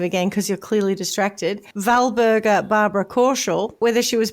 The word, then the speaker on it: Walburga: Wber but I'm pretty sure it would be pronounced Valber first name yes oh and so her child